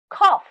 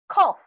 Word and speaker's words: cough: say the underlined words did you notice cough cough this is f why am i writing